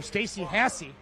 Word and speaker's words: Stacy Hassie: I'm gonna go talk to DJ Sullivan, his daughter Stacy Hassie. I know how to say her name right now. I've been butchering it my entire life.